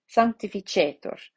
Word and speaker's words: Sanctificetur: So that means that it gets the accent. Sanctificetur on the penultimate syllable. Sanctificetur.